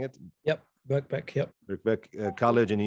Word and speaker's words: Birkbeck: How I'm pronouncing it? Yep, Birkbeck.